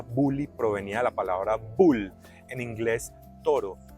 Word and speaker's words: boel: b o e l se escribe boel y se pronuncia bu Ay me perdona mi